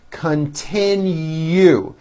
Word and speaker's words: continue: will complete our project continue three syllables last syllable has a hidden y continue his classes will continue